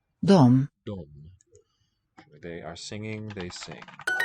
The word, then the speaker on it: de: This pronoun they and them, they became a single form in Swedish, and we just write D, Sjunger. but it's pronounced with that M. De.